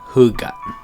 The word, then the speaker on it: Hygge: It's spelled Hygge, but it's pronounced Hygge.